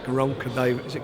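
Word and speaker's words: Gervonta: You've got Liam Walsh, who's the mandatory challenger to, got to pronounce this right, Garonka Davis. Is it Garonka?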